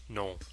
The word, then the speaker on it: nom: Nom. Just think to yourself, nom, nom, nom, whenever you see a noun. It's spelled N-O-M, so it's kind of like nom, nom, nom.